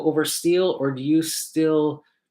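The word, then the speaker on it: Stihl: So it's kind of funny because they're telling me at the booth that it's pronounced Still.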